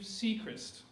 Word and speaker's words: Seacrist: The Soggy Bobbin Boys comprise of Bobbin Wages, Katie Butler, and Steve Seacrist. Am I saying that correctly, Steve? Yes, you got it. Steve Seacrist! I pronounced his name correctly.